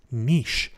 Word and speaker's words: niche: from time to time I might pronounce the word mitch has Miche because that's the more Canadian or British way of saying it although I will try to use the American term niche because of my audience